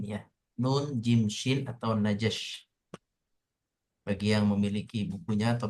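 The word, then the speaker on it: نجش: Hari ini kita akan belajar jual beli yang diharamkan, yaitu jual beli najash, nun jim shin ya. Nun jim shin atau najash.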